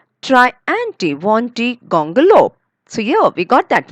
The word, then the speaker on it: Triantiwontigongolope: We say we break it into many parts. Okay. And we say try, try anti wanty, try anti wanty gongolo.